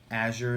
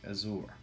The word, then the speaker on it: Azure: It was a fragrance we're discussing tonight, and that fragrance just happens to be Bentley for Men Azure, or Azure as some people say, but it's Azure.